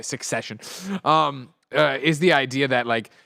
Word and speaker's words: Succession: after not pronouncing so I keep saying secession but I know it's a succession um is the idea